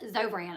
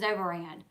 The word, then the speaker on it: Zofran: It's actually pronounced Zovran, I think. And the way that I say it is Zovaran.